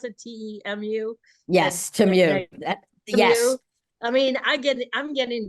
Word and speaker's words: Temu: Temu, is that how you pronounce it? Temu? Yes, Temu.